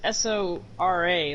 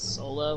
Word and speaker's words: Sora: Like the name Sola is S-O-R-A, like in Kingdom Hearts. So, when it came to the USA, everybody was calling him Sora, but the real Japanese pronunciation is Sola, which means sky.